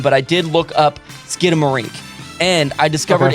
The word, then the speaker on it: Skidamarink: ways in fact um sharon lowes and brown spell it like the word skin skin a marinky dinky dink but i've always heard it as skid like skid marks in your underwear skidamarink dinky dink but uh either way